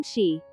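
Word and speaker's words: xi: associated with the spleen she pronounced like she which connects the whole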